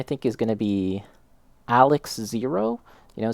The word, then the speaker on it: XARX-Zero: And so, the pronunciation I think is going to be Alex Zero. You know, say the X and the A and the R is more of like an L. So, Alex Zero.